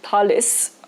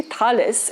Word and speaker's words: Thales: earlier sources actually are tail talis i keep pronouncing it incorrectly thales is a correct with the palace of